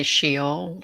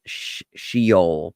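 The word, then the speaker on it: Sheol: we have in the Glasser yeah we say shol so underworld yeah yeah so sh sh like it be spelled in in English s h e o l right shol but it's pronounced sh uh is the grave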